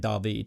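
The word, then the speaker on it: David Mazouz: there by the way two people saying that it's David masseuse it's actually not he pronounces it da beat so that's why I say that but yeah again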